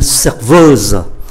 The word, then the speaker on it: serveuse: ta gọi là une serveuse. Và chúng ta để ý cách phát âm ở cái âm tiết cuối này, để cho phân biệt là phái nam hay phái nữ.